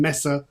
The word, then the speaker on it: Messe: It's a Cologne, how do you pronounce it in German? Messe.